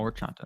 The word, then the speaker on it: horchata: The H is silent. Oh, Orchata. There we go. Orchata? Oh, yeah, it should be, yeah. I took Spanish. Should have known that. H is always silent.